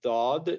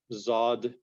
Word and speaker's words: ض: to be very similar, because sometimes dad in which we have in al-ard is pronounced as zad, which is very similar to Urdu, which is zawad, which is not at all the proper pronunciation, which is in Arabic.